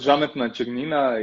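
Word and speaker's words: Žametna črnina: I don't understand, but Well, it's called Jametna Chernina.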